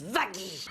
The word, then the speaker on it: Vaggie: Toute ça se prononce vagy.